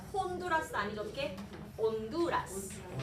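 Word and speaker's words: Honduras: 온두라스.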